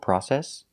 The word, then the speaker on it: process: So remember, the British pronunciation is process. In England, they say process. Quite a long process. And in America, we don't. We say process.